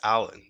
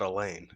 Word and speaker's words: Alain: foreign oh my gosh your name is Alan not Elaine hey that's all great brother I am so sorry you know it's a French pronunciation it's a French pronunciation